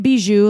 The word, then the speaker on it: Bijoux: Yeah, it's like bijou.